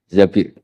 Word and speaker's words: Zabir: Kemudian saya nikah sama Abdurrahman bin Zabir di hadis ini bukan bacanya bukan Zubair, tapi Zabir.